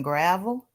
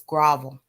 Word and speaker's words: grovel: I watched them click links in gravel. Or no, it's not gravel. It's grovel. Grovel. Let me pronounce it properly.